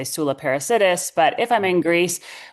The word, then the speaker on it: Soula Parassidis: but yeah, when I'm in North America and where I grew up in Canada, we just say Soula Parassidis.